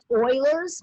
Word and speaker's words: Euler's: number that always has the same value it's pronounced euler's but it's spelled euler's it's the name of